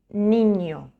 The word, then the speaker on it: niño: Este sonido se pronuncia desde la nariz. Por ejemplo, español, niño. O.